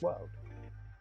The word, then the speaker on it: WLD: their acronyms so wld and then it's pronounced world so yeah I painted